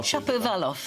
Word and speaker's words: Shapovalov: He lost his first set, and that's a good pronunciation. It took me a while. Shapovalov.